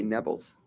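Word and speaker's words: Nablus: city Naples you know Arabs can't pronounce the letter P so they say nebbles neis neis that's whyis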